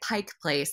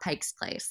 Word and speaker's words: Pike Place: was fun yeah well good job calling it Pike Place and not Pike's Place so you did good there okay right right it right it's not Pike's Place even though people say that a lot right yes yes one